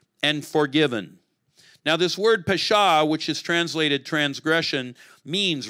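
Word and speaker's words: פשע: The word in Hebrew is pesha, and it says whose transgression is forgiven. The Hebrew word is nasa. It rhymes in Hebrew. It doesn't work in English, but pesha nasa. You hear it?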